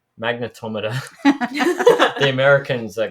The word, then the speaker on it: magnetometer: main sensor that ghost of using is a magnetometer I actually found out recently I'm pronouncing It Wrong by the way it's magnetometer the Americans are correct with us on that so magnetometer and essentially that's a compass so it it's